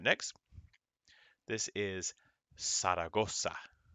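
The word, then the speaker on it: Zaragoza: right next this is saragosa the z in spanish goes s saragosa although this place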